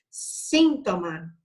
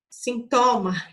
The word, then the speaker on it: síntoma: Síntoma, Sintoma, incorreto. Porque eu tenho que falar síntoma. Magia, correto.